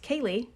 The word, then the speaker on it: Keilidh: So Kaylee is pronounced Kaylee, but is spelled Keilidh. Wild. There's a D. Wild.